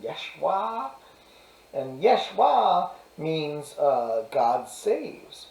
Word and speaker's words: Yeshua: Meanwhile, Jesus actually ends up being named Jesus, and by the way, it's actually pronounced Yeshua, and Yeshua means God saves, which is a